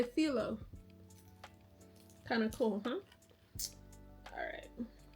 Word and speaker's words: phyllo: So fun fact, we say phyllo dough in the USA. Greek people say phyllo.